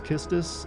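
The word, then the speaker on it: Quistis: mountain region the quest this is actually pronounced as kisstus is like i said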